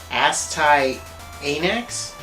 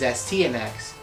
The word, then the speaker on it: Astyanax: how to pronounce the name of this game asktai anax no the proper pronunciation is stnx it means protector of the city and it's